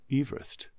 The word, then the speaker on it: Everest: Apparently we pronounce Mount Everest wrong. Do we? The chap who named that mountain pronounced his surname Everest. Ah. Yeah. Everest.